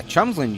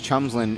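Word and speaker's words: Tjomsland: center fielder um yeah chumsland you wouldn't think it was chumslin it's spelled t-j-o-m-s-l-a-n-d throw back the second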